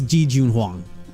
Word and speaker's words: Ji Junhuang: jun hong that's right someone told me that the j isn't that it's you actually pronounce it like june oh like the like i was doing like the d i can't remember how it's been awesome had to say his name but someone corrected me and that the ge isn't like silent it's pretty much chinese yeah so it's ji junhuang that's how it is i'll correct that heijun